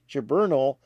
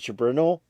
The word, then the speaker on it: Ceberano: I guess it's pronounced different ways. They have it differently in Wikipedia, several different ways. But Ceberano, and she's a jazz singer, a soul singer, a pop singer.